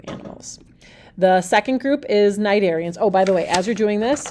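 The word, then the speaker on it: Cnidarians: group is um the Nigerians that c is silent and then it's pronounced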